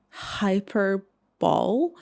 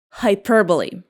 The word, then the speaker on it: hyperbole: How do you pronounce it? Hyper ball. It is pronounced like hyperbole.